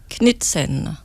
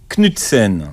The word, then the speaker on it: Knudsen: Knusten, vous êtes avec nous, bonjour. Bonjour. Alors, je ne sais pas si je prononce bien votre nom, c'est parfait. Et après Knudsen. Knudsen. C'est danois.